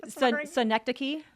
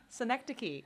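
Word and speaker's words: synecdoche: last so that we can really focus on pronouncing it correctly. Senectic. Senectic.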